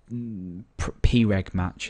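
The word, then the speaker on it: preg_match: this username so um we say uh PG match is how it should be pronounced uh if this equals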